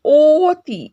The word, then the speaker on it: অতি: ওকে, অবাক যেমন হচ্ছে, রাইট, কিন্তু এখানে দেখো অতি, এখানে অধ্বনিটির উচ্চারণ ও ধ্বনির মতো, রাইট, অতি আমরা কি বলছি, অতি।